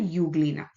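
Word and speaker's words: Euglena: amieba parramsium diatoms and Uglina although it is pronounced U there is a E in front of that E U means true.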